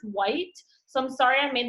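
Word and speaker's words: wight: I looked it up, and it's actually pronounced white, like the color, even though it's not spelled like the color, but it's pronounced white.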